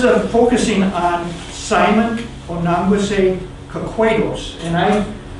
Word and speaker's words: Kahquados: And I pronounce the A as an A sound because in many places you'll find an E at that spot. which is the German letter A. So there are a lot of Germans that were reporting. Also, one of the Potawatomi, a young man, informed me that that's the word you should pronounce it because there's no H behind that A.